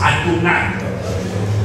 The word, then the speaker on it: Adonai: Et quand on le rencontre, on le prononce Adonai.